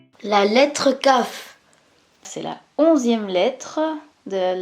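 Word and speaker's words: כ: Kaf, c'est une lettre double. On l'appelle Kaf ou Raf, parce qu'elle peut se prononcer K ou R.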